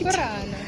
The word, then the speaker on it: Murano: She said my pronunciation was correct. Murano.